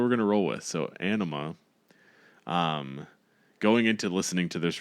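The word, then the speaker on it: Ænima: We looked it up because it was like I think you were pronouncing it anemia and I was pronouncing it like enema. Like it's anima, I think, is what we came up with based on a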